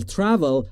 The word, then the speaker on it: travel: We will travel یعنی ما سفر خواهیم کرد. در مورد تلفظ travel دوستان دقت بفرمایید بین T و R صدایی وجود نداره. پس نباید بگید travel.